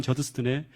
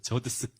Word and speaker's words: 저드슨: 이 책의 내용을 보면 어떤 내용이 나오는가 하면 아도니람 저스틴이라고 하는 그런 이야기와 이 아도니람 저스틴의 그 아들 에드워드 저스틴의 이야기가 나오는데, 근데 이